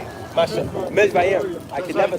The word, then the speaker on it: Mizraim: Mizraim.